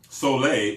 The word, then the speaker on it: Sole: bodies why because um soay s o e with that little Accent on the end soay helps to cleanse the